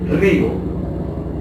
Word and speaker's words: río: Pero si digo por ejemplo río, la palabra río ya no es monosílaba. La palabra río tiene ya, es decir, que el río es bisílabo, tiene 2 sílabas.